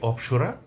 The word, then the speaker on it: অপ্সরা: তো এই যে অপসরা অর্থ জানা গেল। আর উচ্চারণটি হচ্ছে অপসরা।